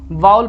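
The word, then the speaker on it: vowel: वाउल लिखा है क्योंकि इसका प्रोनाउंसिएशन होता है VOUEL से। देखिए आप VOU क्या पढ़ेंगे, वाउ तो पढ़ेंगे, वाउ, और EL एल, तो वाउल क्या पढ़ते हैं, इसको वाउल पढ़ा जाता है।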